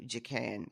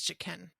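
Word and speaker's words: Jaqen: thought it was the guy like our guy jacan I never say his name right it is theorized it is jaen oh they think it might be him him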